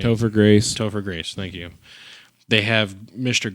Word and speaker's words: Topher Grace: his name Topher you said right toer Grace Topher Grace thank you they have Mr Grace come in